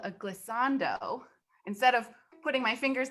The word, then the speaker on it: glissando: Octavia loved the glissando.